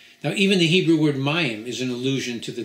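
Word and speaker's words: מים: to god almighty now even the hebrew word mayam is an allusion to the depth and sanctity of the torah the word is spelled mem yud and a final mem and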